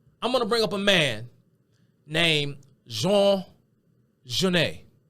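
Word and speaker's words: Genet: of an anglophone pronunciation if you look at it and you try to pronounce it phonetically you would probably pronounce it Jean ganette Jean ganette but the popular pronunciation of this man's name is Jean Jan who is Jean Jan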